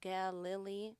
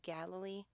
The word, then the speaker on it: Galilee: That is spelled Galilee. Looks a lot like Galilee, but it's actually Galilee.